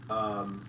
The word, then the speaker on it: Benicia: Benicia? It's pronounced Benicia.